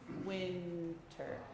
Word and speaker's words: winter: notes seem very long it is winter and we don't pronounce the r at the end can we go two